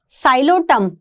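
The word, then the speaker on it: Psilotum: सिलेजिनिला and Salvinia, साइलोटम, P silent है, and Salvinia, equisetum and Salvinia, lycopodium and सिलेजिनिला।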